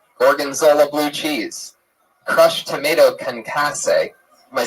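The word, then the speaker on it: concassé: balsamic marinated steak orgona blue cheese crushed tomato kcass did I say it wrong again how do you say it concas all right I'm not going to take it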